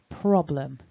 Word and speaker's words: problem: to notice is that the word is divided into two syllables that little blue dot in the middle shows us the break so problem the second thing to notice is top left that little blue mark shows us that the strongest syllable is prob problem problem so you really want that first syllable to be stronger so we've got a consonant